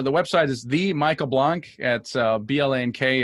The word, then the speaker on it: Blank: website is the Michael Blanc at BL A&K it's spelled blank and pronounced funny so let's don't that's